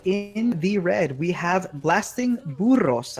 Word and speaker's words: Blasting Burros: And on the right-hand side, in the red, we have Blasting Burros. I will pronounce it with the Spanish rolling R.